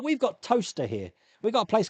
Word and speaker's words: Towcester: Like we've got Toaster here. We've got a place called Toaster, but it's spelled Towcester, so it's Towcester, but it's pronounced Toaster.